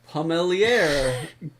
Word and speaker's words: Pommelier: And then recently, the American Cider Association published their Pommelier. It's not Pommelier? In France it is. Okay. I actually looked this up on the internet, and there's both an English and French pronunciation.